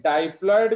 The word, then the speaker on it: diploid: ये है हैप्लॉयड number, but एक डाइप्लॉयड भी होता है, समझ रहे हो, तो डिप्लॉयड होता है एंड डाइप्लॉयड, DIPLOID, तो स्पेलिंग दोनों का सेम है बट प्रोनाउंसिएशन दोनों का अलग है, सो ये आप याद